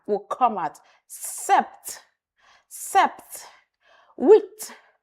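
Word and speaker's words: huit: Wheat. Wheat. Not hoot. No. The ash. Remember our alphabet. Yes. Don't worry. Very soon I'll take us back again to alphabet. Yes. Ash. The ash sound is silent.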